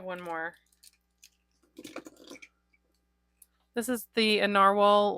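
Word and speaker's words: Nahvalur: called novalour but yeah which they say is pronounced narwhal but when I bought it they were called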